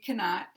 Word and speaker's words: cannot: And if we say cannot, 2 syllables, then the first syllable is going to be weak, and the negative second syllable is going to be stressed, strong. Cannot, cannot.